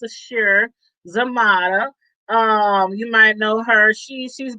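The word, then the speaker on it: Sasheer Zamata: And Sashir, I think her name is pronounced Sashir Zamata.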